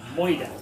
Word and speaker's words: murder: moida. That's how Americans say the word murder, they say moida.